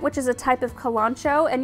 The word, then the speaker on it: kalanchoe: type of kalanchoe and you might have heard them referred to as kellen coe i honestly think it doesn't matter what way you pronounce it it's pronounced different in different regions and i've heard it pronounced both ways i love to